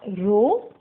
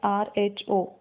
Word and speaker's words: rho: It is a Greek letter and it is pronounced as rho. It is spelled as RHO, rho.